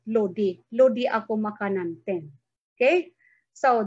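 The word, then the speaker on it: load-i: Again, we spell the word load as it is, then put a hyphen and add I. So it becomes a new spelling, lodi. But in actual, we pronounce it lodi.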